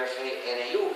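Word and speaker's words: GNU: cargada idioma inglés que según el diccionario la g es muda y se pronuncia New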